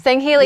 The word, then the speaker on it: Sangheili: I say Sangheili. Sangheili.